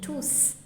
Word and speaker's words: tous: If you have noticed in this example, the last S in tous is pronounced, and this is because tous is an indefinite pronoun.